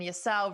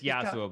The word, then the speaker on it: Yasuo: So tomorrow is going to be June 6th, and we're going to have It's Slicker versus Nim and Yasao versus XQC. It's Yasuo, by the way.